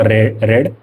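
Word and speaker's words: read: तो स्पेलिंग उसका सेम ही है। लेकिन बस उसका उच्चारण रेड हम करते हैं। वी टू के लिए रेड बोलेंगे। वी3 के लिए भी रेड बोलेंगे। लेकिन spelling R इ ए डी ही है।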